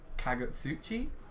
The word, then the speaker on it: Kagutsuchi: kakuchi in it in is it kakuchi uh however it's pronounced I'm pretty sure it's kagutsuchi j kagutsuchi um a